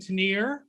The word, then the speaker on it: Tanier: and Tanier, and then he said something about it rhyming with shots and beers, and so I'm like, okay, so we'll go with Schatz and Tanier.